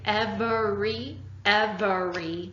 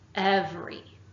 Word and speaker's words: every: Normally, if you say every, that's 3 syllables. We need to cut it down to 2 to work with the song.